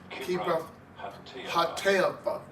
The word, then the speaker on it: Kibroth Hattaavah: Kibroth Hattaavah is how they pronounce that, because they buried the people that lusted.